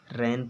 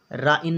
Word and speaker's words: rain: जैसे लिखा हुआ है RAIN, तो इसको क्या पढ़ेंगे, रैन पढ़ेंगे। राइन नहीं पढ़ेंगे, रैन पढ़ेंगे।